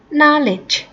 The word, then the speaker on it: knowledge: Reason but please hai oke nyo knowledge but naleh naleh yang tulisannya knowledge itu bukan dibaca knowledge